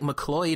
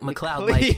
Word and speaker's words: McCloud: it right for the everyone says like McCleod or mcclee odd but it's like my cloud like fox mccloud that that's how that's